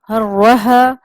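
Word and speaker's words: حرّها: حرہا وبردہا وصباحا۔ اچھا، اس میں جو ہا ہے وہ تھوڑی سی موٹی ادا کرنی تھی، سینے سے آتی ہوئی آواز معلوم ہو تاکہ تلفظ کی ادائیگی صحیح ہو۔ ہا اور ہا میں فرق ہوتا ہے، ورنہ تلفظ کی ادائیگی جو ہوتی ہے، تلفظ کی ادائیگی اگر صحیح نہ ہو تو معنی بدل جاتے ہیں۔ تو اس کو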